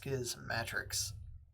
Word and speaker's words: Schismatrix: And I and I say Schismatrix because in the introduction to Schismatrix Plus, he says the pronunciation is similar to Schismatics. So, it's not Schismatrix. I believe it's pronounced skiism matrix.